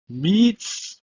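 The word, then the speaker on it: מִצְרַיִם: It's pronounced as Mitzrayim.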